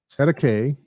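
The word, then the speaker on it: cestui que: It says here pronounced Sedeke, so set to K, common term in New Zealand and Australia.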